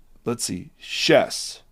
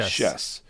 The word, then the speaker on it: Schiess: Today, we are speaking with a young woman named, Schiess is how you pronounce it. Schiess.